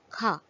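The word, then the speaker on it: کھا: But in the second example, Do Chashmi Hai provides an aspirated sound when combined with Chhoti Kaf.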